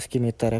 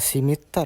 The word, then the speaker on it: scimitar: Kita sedikit baca, Guys, ya tentang si pedang Skimiter, ya. Karena gua juga pengin tahu, Guys, pedang Skimer. Eh, Simitar ya bacanya. Simar berarti. Sori, Guys. Berarti gua tadi salah ya bacanya.